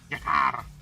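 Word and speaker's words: G'Kar: Jakar. Why do you have to spell it like that, Ali? I have to read it like that. I have to read the uh I have to roll the K.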